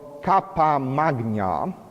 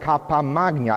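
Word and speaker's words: cappa magna: beautiful new outfit from the 14th century called kappa magna it's spelled c-a-p-p-a and then magna and kappa magna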